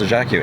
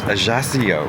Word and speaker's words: Ajaccio: Actually no, it's not pronounced Ajaccio, it's Ajaccio apparently. Is it? Ajaccio. Yes. I guess it's French not Italian, so the C C is not like a hard K.